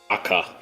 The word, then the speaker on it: DAK: So you are aware here, Nam, the shortened version of this is DAK. It's pronounced Aka.